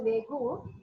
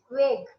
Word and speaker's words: vague: vague then foreign immediately corrected he should not pronounce it as vegu it is vague okay then uh then the foreigner like they